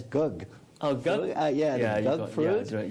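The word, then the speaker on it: gấc: I believe the Vietnamese pronounced it as gug.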